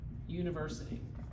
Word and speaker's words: university: University. Okay? Which one is this? Not an. University. Because what's the first sound? Ye. What sound is that? Ye. It's Y.